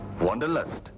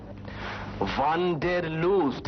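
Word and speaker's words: Wanderlust: ওয়ান্ডারলাস্ট কিন্তু তোমার মত উচ্চারণ করেনি ওয়ানডের লুজ এইতো কথাটা ইংরেজিতেও ব্যবহার হয় আর যখন হয় তখন ইংরেজি উচ্চারণই হয় আমি আড়াই মাস ধরে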